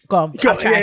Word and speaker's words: gqom: Gqom.